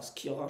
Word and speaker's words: Schira: Ça dépend de son origine. Mais... Il est italien, Bah, Skira, je pense. donc voilà. Encore une fois, la prononciation de nom c'est pas notre fort forcément, mais Je vous dis Skira.